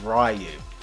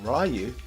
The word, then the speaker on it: Ryu: bloody reading the text the fact that Ryu is spelt a lot like Ryan meant I could use my knowledge on phonics to lead me to the conclusion